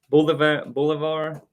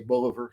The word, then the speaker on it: Bolivar: Confederate General Simon Bolivar. Did I say that right? Bolivar? I've heard it pronounced a whole lot of different ways. I just say Bolivar.